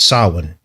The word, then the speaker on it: Samhain: which is spelt Samhain, Samhain, but it's pronounced Samhain.